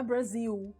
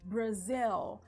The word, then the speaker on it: Brasil: Repete aí, ó, Brasil. Não é Brasil, tá? Brasil. Tem que pronunciar o L.